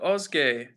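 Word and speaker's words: Özge: And Ozge says Ozge says, "Ooh, you pronounced it really well, bro.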